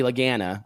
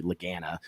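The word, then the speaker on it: Lagana: of guy that bobby laganna i say their name wrong all the time i believe it's actually legana is bobby look yeah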